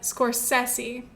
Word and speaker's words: Scorsese: directed by martin scorsese i did look up the pronunciation of his last name because i mentioned it in the last episode i think he pronounces it scorsese but then it's like is that the real italian way to say it i don't know so